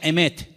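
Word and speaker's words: אמת: Y la palabra verdad en hebreo se pronuncia emet.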